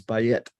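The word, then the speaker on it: בַּיִת: have to check my notes on this is by it we would say b-a-y-i-t is how we would spell it in using english letters or whatever those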